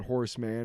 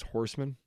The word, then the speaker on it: Horsemen: properly pronounce his name oh it's not Horseman it's Horsemen well I he'll tell you we were saying like he's he's Horseman like no Horsemen like what you would call like for headless horsemen or the I four